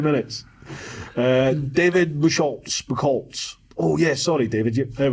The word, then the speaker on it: Buchholz: It's pronounced Buchholz.